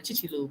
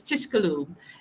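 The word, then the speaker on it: Chicxulub: i've been saying it wrong it's called a chichilu but that's not how you say it it's chishkalu um c-h-i-c-x-u-l-u-v and it's a fishin village and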